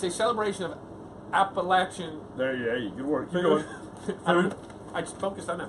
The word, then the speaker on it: Appalachian: website that's the big activity and remember it's pronounced Appalachian Appalachian my god all right here we go also